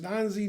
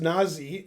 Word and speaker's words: Nazi: uh that's right anyway her name is not pronounced that way it's pronounced nazi and in georgian it means something and we like it because we're from georgia i mean i don't